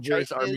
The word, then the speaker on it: chitin: So it's pronounced chitin. I've always said chitin, but that makes sense. It's one T.